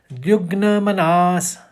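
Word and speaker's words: द्विग्नमनाः: मनास आएगा द्विग मनास द्विग्न दो ग और न एक साथ है वह गौर से देखिए द्विग्न मनास दुखेशु निर्द्विग्न मनास और स का हमने विसर्ग ले लिया।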